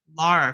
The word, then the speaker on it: Lara: And then if you want, you can throw Laura Croft in the mix. Sorry, Lara Cross.